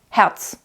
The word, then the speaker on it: Herz: Now, of course, when we speak and we do pronounce the R, it's back in the throat. Herz, if we were to pronounce it. But actually, the word Herz, if we just speak it in everyday language, it's Herz.